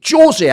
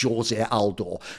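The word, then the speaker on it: José Aldo: if he's then eliminated is going to be Jose Aldo just to stress again for people who don't know because he's Brazilian you pronounce it Jose if he was someone from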